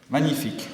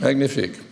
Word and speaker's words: magnifique: How do you say magnificent? Magnifique. Magnifique. Notice that? That French touch?